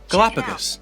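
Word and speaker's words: Galápagos: say the galapagos islands i found this on the web for how do you say the galapagos islands galapagos galapagos islands that is where charles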